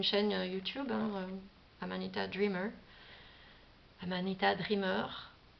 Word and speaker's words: Amanita Dreamer: Amanita Dreamer, hein, prononcée à la française.